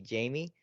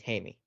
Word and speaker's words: Jaime: So if you pronounce it in English, it'd be Jamie. But because he's of Latino descent, it is Jaime Jaquez Jr.